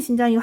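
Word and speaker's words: 新疆: 신장은요 발음이 신장이고 한자은 뭐예요? 신강.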